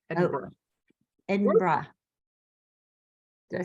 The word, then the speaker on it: Edinburgh: it's Edinburgh Edinburgh Barbara it's not as it's spelled it's just like but the end is Borough so Eden but it's like bruh Edinburgh Edinburgh I think more like no number it's like bra almost at the end like